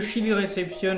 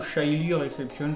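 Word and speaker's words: Chilly Reception: Le Chili Reception, bien évidemment, ou Shily Reception, ça dépend comment on prononce.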